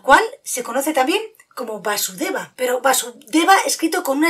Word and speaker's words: Vasudeva: Y con el tiempo, en vez de Vasudeva, con ese acento en la A, ya todo el mundo lo conocía como Krishna.